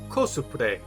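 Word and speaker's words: コスプレ: Cosplay is a Japanese loan word pronounced kosupre.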